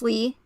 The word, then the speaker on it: Li: You have Lee, Li, pronounced Lee, and then you have Lie, also pronounced Lee, but Lie is also the American word of lie.